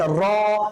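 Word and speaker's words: ر: র করার সময় যেন কি বলেছিলাম? একটা সিফাত বর্ণনা করেছিলাম, একটা সিফাত বলেছিলাম। সিফাতটা কি ছিল স্যার? যে র উচ্চারণ করার সময় আপনার কণ্ঠটা প্রতিধ্বনিত হতে থাকবে, আপনার আওয়াজটা প্রকম্পিত হতে থাকবে আপনার ভেতরের দিকে। র, তাকরর হবে, তাকরর। এটাকে কি বলে? তাকরর বলে আরবি শব্দে, মানে বারবার উচ্চারিত হওয়া।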